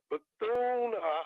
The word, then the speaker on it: Bethune: So let me just tell you now, Bethune.